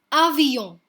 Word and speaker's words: avion: So this word ends in a consonant which is N. That's why we do not pronounce the consonant and we just end at O and call it as avion. Avion. N gives a little sound from the nose. So avion. B is called B.